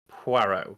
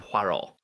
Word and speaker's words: Poirot: is on Hercule Poirot, and that is Poirot, because the character will always correct you on the pronunciation of his name. It's not Poirot. It's not Poirot now, which I always thought it was a kid. So it's Poirot.